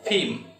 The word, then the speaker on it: firm: It's not firm. It's not firm. It's firm. And R is silent.